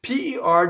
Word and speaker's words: per: P-E-R does not rhyme with the fruit, pear, right? Or a pair of shoes. No, it's per. So if you separate it like that, you'll do it perfectly. Per, right? Rolled R. Why? Well, we have a final R, but the next word starts with a V. So this R is going to roll.